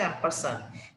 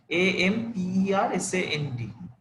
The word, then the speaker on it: ampersand: ঠিক আছে, এই এটা সেম, কনক্যাট দিয়েও করা যায়, অ্যাম্পারসান বলে এই এটার উচ্চারণ হচ্ছে অ্যাম্পারসান, AMPERSAND, এটা দিয়েও করা যায় কনক্যাটেনেশনটা।